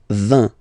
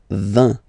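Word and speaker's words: vingt: And the last one, so this G letter is here, but you don't pronounce it.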